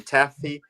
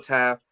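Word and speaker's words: Taaffe: I was calling him Taffy, but the E is silent, huh? It's Michael Taft from Texas.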